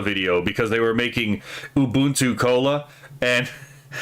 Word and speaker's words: Ubuntu: But like the word is actually pronounced Ubuntu.